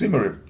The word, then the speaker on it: Symarip: So we came up with the name to spell it back way without the D, and it pronounced Symarip.